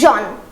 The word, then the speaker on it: jaune: As you can see that this color has the similar pronunciation, that is jaune.